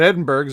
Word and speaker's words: Edinburgh: I mean, you would know about Edinburgh's, right? I know. You say it wrong. For a start, it's Edinburgh, but I suppose you take the H out of it at Pittsburgh, but that makes sense.